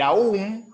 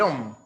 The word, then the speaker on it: om: Y de hecho el aum, el aum es el OM, la a y la u se pronuncia o y la m eh